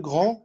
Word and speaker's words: grand: Non, مش هننطق الدي ده. هنقول le grand, Vincent le grand.